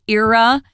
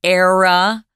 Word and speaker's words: era: at the end, it's era. It can also be pronounced era, era. Both Tom and I say era, so you can pick the one you want.